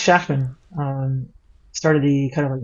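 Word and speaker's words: Shachtman: real like Christian beliefs uh shockman or I guess shackman is probably more common prononciation Max shakman um started the kind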